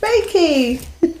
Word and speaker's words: Reiki: Reiki.